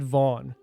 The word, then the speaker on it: Van: The spelling's Van, but we'll pronounce it Vaughn.